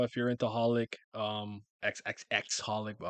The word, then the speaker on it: xxxHOLiC: Reservoir Chronicles um clamp if you like card Captain Sakura if you're into holic um xxxholic well I don't think you pronounce the X's which is the other